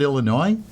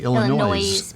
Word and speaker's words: Illinois: some interesting things on the street do you pronounce it Illinois why because that's correct whoa yay for me in Ohio some people say Illinois but that's noisy that's noisy yeah it's slightly